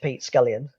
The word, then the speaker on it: Pete Scullion: Instagram handle possibly at Pete scallion um it's pretty straightforward um I did never went for one of these slightly strange um Instagram handles it's just my name sounds like it's spelled how many covers for